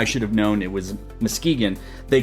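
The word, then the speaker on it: Muskegon: One person was offended because I mispronounced Moskegan. It's not Muskagon, Michigan. As a 2 and 1/2 year Michiganer, I should have known it was Mskegeegan.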